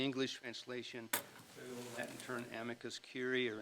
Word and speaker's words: amicus curiae: Friend of the Court's kind of a goofy sounding term, but it's the English translation, the Latin term amicus curiae or amicus curiae, pronounced, which means a disinterested third-party opinion designed to assist the court in arriving at a judicial decision.